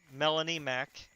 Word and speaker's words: Melanie Mac: I don't know, but Melanie Mac. It's spelled how it sounds, except the Mac is M-A-C. So it's Melanie space M-A-C.